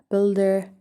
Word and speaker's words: build: has a silent you build silent you guess guard have silent